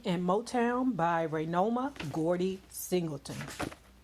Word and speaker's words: Singleton: Now, let's talk about The Untold Story, Bury Me in Motown by Raynoma Gordy Singleton. Yeah, I said it right. Child, I was saying Singletary. My bad, y'all.